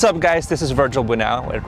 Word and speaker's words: Bunao: What's up guys, this is Virgil Bunao. It rhymes with Bunao not later.